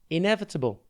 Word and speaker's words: inevitable: the exam coach dot tv today's word is inevitable it's pronounced in e and it is spelt i